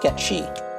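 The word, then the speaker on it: Cait Sith: Spelled like Kate Sith, but pronounced Ketchi.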